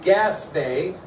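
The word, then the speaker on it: Gaspee: William Duddingston was commanding a vessel called the Gaspé, although it's not spelt like that, but that's how it's pronounced.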